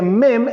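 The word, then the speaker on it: מם: viene la letra m que se pronuncia mem en el hebreo y significan y también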